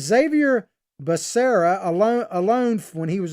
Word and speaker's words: Becerra: is it i abide mispronounced as baccarat i think is what he said and i think it's becerra is his name alone but you know